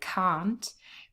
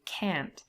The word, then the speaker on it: can't: British accent and so I would say can't but if that sentence was set by an American speaker they were they would most likely say can't and the tears often